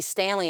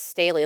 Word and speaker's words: Staley: People call me Stanley and it's Staley. I'm like, "Oh, take a stale bread."